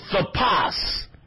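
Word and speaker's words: תָּפַשׂ: And if you look it up, the proper pronunciation of it is thapas.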